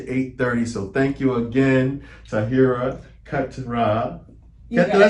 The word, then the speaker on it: Taahira Keturah: So thank you again, Taahira Keturah.